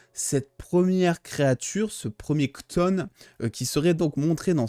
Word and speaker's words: Chthon: C'est incroyablement compliqué à dire. Alors, ça s'écrit Chthon, C-H-T-O-N, il me semble. mais ça se dit Kton, voilà.